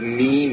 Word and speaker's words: meme: some reservations about the meme expression, because that wants to put agency where agency perhaps isn't. And it rhymes with gene.